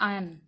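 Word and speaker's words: iron: Are silent, जैसे आयरन लिख देते हैं हम, इसको हम बोलते हैं आयन, क्या बोलते हैं, आयन। आप आयरन बोलते हो लेकिन वो इंग्लिश वर्ड नहीं है, इसको हम बोलते हैं आयन, ठीक है, आयन।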